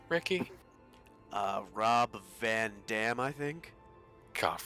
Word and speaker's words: Rob Van Dam: Rob Van Dam, I think? God, Rob Van Dam.